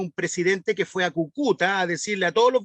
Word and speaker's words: Cúcuta: Es Cúcuta, con acento en la primera U.